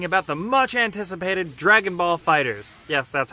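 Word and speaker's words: FighterZ: today we're talking about the much-anticipated Dragon Ball fighters yes that's how you pronounce it I always screw it up it's not Fighter Z this is a very interesting game just because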